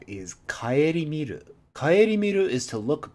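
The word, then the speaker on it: 顧みる: Kaeri miru. This is a new kanji, though we do know this pronunciation on different kanji, not this one particularly.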